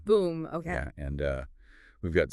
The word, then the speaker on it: Voem: It's pronounced Voem. Boom.